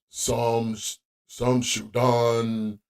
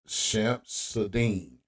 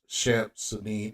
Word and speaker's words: Shamsud-Din: lot of you guys think his name is some some Sudan uh Jabar but it's it's pronounced shamp sadine now I know you don't care but uh